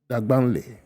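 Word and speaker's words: Dagbanli: I hear now I hear the proper pronunciation is Dagbanle. So not Dagbani. It's not Dagbani, it's Dagban.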